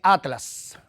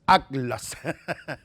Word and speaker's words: Atlas: Se trata de Atlas o como dirían los españoles, Atlas. En fin, eso es una pronunciación que se usa en España, pero en Latinoamérica no.